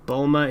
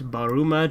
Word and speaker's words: Bulma: stop mispronouncing her name there is no bulma it's baruma john bulma means nothing but means bloomers i